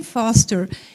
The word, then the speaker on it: Foerster: Existe um pesquisador fantástico, Brian, fala-se Brian, mas se escreve Brian, com N no final, Foerster, Brian Foster.